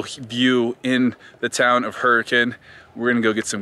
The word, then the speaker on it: Hurricane: actually in hurricane it's you spell it hurricane but if you ever come here don't say hurricane it's hurricane it's leviosa